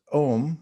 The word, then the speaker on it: Om: mantra and sound vibration om is a one syllable mantra and it is pronounced om its three letters o u m and it synchronizes all